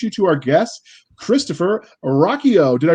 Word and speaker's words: Ruocchio: ado let's introduce you to our guest christopher rocchio did i pronounce it right this time yes you did